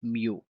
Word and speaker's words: mu: is mu p mu but this one is pronounced as mu so just in case lang po na mapag-aralan niyo sa mathematic mu po ang tawag ah mu po ang tamang pronunciation The correct spelling is mu.